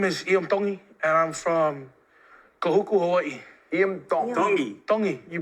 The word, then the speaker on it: Kahuku: you're from my name is and I'm from Kahuku Hawaii you pronounce it like a D in the toy